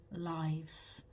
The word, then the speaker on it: lives: so you can see it has exactly the SP exactly the same spelling sorry as the verb lives but it's pronounced differently in this case when we use it as a noun a pluralized noun we say lives so I love my